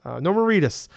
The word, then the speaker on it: Norman Reedus: What's God, it rhymes with fetus. Norman Reedus.